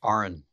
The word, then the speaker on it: Aron: It's pronounced Aron, if Aron.